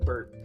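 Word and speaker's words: BiRP: is not I don't people call it burp but is the bill buil-in built-in render pipeline short is burp it's spelled b i RP though guys okay so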